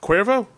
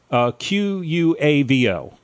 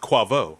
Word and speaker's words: Quavo: Cuervo? How is it spelled? It's Quavo. Quavo. And pronounced Quavo.